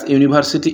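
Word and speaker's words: university: First কোশ্চেনটা দেখো, there is dash ইউনিভার্সিটি in part one তাহলে ইউনিভার্সিটির প্রোনাউন্সিয়েশান ইউর মতো, তাই এখানে এ বসবে।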